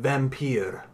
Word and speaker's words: Vampyr: I'm going to pronounce it Vampyr.